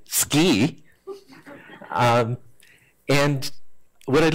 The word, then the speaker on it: SCI: SC I especially since Chris this morning told me I have to pronounce it ski and what I'd like